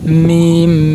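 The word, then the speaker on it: ميم: এই দেখেন হরফ উচ্চারণ স্থান মিম, হরফ উচ্চারণ স্থান দুই ঠোঁট একত্রে মিলিয়ে উচ্চারণ হয়।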